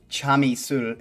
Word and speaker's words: Chamisul: Chamisul is how you say it, which is one of two popular brands of soju in Korea.